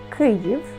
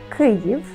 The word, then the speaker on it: Kyiv: Kyiv, Kyiv, Kyiv, Kyiv. Really, the difference between Kiev and Kyiv is Russian versus Ukrainian language.